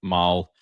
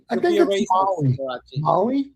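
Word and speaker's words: Mahle: Uh, I never know how to pronounce this dude's name. He used to pitch for the for the Reds. Tyler Maul.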